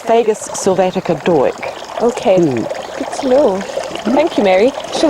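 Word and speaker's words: Dawyck: nut okay and it's a variety called Doric which is spelt da Wyck that was a chance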